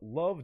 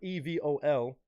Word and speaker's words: Evol: is a song called Love Don't Lie appears to be on a project of some sort that's titled EV o l perhaps pronounced love but I'm going to say Evol um badass artwork no